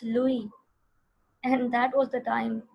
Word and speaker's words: Louis: तो बच्चों ने, मैं तो लुइस पढ़ती रही हूँ सारी जिंदगी, लुइस पास्चर। तो प्रोनाउंसिएशन हमारी रॉन्ग होती है, पर आजकल यूट्यूब के ज़माने में हमारी प्रोनाउंसिएशन गलत नहीं होनी चाहिए. बट वन ऑफ the student told me, because she was listening to that German singer or someone, she said, "Ma'am, it's Louis."